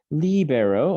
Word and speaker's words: libero: Libero, again, with that accent mark, libero, I set free.